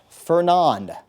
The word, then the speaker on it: Fernand: Next name system, we get the F storm, Fernand, I believe that's the correct French pronunciation.